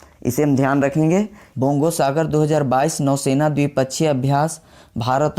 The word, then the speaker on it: बोंगो सागर: बोंगो सागर 2022 नौसेना द्विपक्षीय अभ्यास भारत और किस देश के बीच हुआ? तो बोंगो सागर हमें बोलने से बंगला वर्ड की तरह उच्चारण हो रहा है।